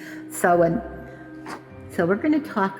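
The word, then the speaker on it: Samhain: Now during this presentation I may say Saman because that's how I've been pronouncing it but I further I think I looked up several pronunciations and it was sewen.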